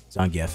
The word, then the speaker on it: Zangief: Zangief is the correct way to pronounce his name.